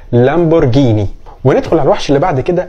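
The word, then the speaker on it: Lamborghini: ان النطق عربي كده حتى حرف الار فيها ما بيتنطقش ار بيتنطق زي حرف الراء لمبرجيني على الوحش اللي بعد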